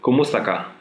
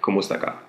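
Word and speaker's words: Kumusta ka: how You by saying kumaka there is a space between kumusta and Ka but you can say it like one fluid word like kumaka so in South Korea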